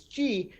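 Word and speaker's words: Xi: alphabet would have been the greek letter x i which incidentally is pronounced as g which happens to be the first name of the uh you know the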